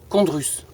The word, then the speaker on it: chondrus: Et à l'intérieur de la flaque, on a une algue qui est très très utilisée dans le monde qu'on appelle condrus. Ça s'écrit chondrus.